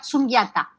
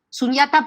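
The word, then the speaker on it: sunyata: un nombre femenino que se pronuncia suyata sunata para el budismo es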